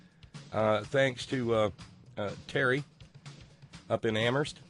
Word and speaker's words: Amherst: to Terry up in Amherst where only the H is silent thanks to Lauren out